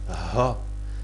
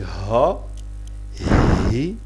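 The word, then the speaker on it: ح: H le ha hein ha donc ha c'est comme si on rigole on dit donc ha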